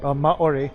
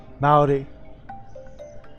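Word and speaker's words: Māori: Like, one of my best friends was this Maori lady, and that's from New Zealand, Maori, or Maori, is how they actually pronounce it.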